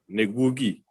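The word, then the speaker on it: Ngũgĩ: Well, Ngugi, let me spell it for you. Nguigi. Ngugi.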